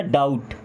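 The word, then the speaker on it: doubt: यहां पे B silent होता है। यह बात ध्यान रखिएगा। एक ही वर्ड है यहां साइलेंट है। टी से क्या बनता है? ट। यह क्या बन गया? डाउट।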